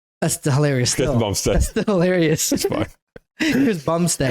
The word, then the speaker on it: Chris Bumstead: not his name bu said bum said it's Chris Bumstead that's hilarious Chris Bumstead that's still hilarious Chris Bumstead Chris Bumstead okay